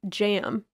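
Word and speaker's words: jamb: i had amb and it's jam like a door jam but i didn't realize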